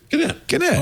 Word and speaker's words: Gannett: How you pronounce Gannett? Gannett.